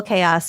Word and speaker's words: Kaeos: And little Chaos is so cute. And her name is spelled Kaeos.